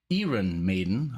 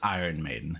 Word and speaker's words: Iron Maiden: up and say hey do you like iren maiden i would be like ah it's iron maiden you know so i